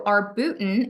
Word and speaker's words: arbutin: that this has arbutin so arbutin and yes that is how you say it arbutin um arbutin is what